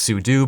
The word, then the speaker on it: sudo: command and type in sudo or it's also often pronounced soo do but it's spelt sudo so i want to